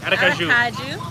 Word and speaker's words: Aracaju: But we were in Aracaju. I keep saying it wrong. No, that's right, Aracaju.